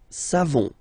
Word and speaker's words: savons: So classic ending for nous, O-N-S. You don't pronounce the final S. Nous savons.